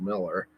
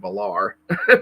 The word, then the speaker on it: Millar: the the JM dadus interview with uh Mark Miller and and yes like most people and I I used to think his name was pronounced Mark malar but apparently Miller is the common uh uh